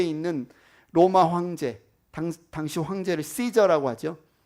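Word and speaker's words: Caesar: 로마 황제 당시 황제를 시저라고 하죠. 우리 개혁 계정 성경에서 가이사라고 부르는데 영어 발음은 시저입니다. 카이사르라고 다 하죠.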